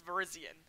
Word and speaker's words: Virizion: a Pokemon not a phone company so it's Virizion the only Pokemon pronunciation that I like really care about a